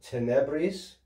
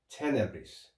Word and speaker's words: tenebris: to pronounce this as tenebres because of rules of latin accent but you'll often hear this pronounced tenebris okay so tenebris tenebres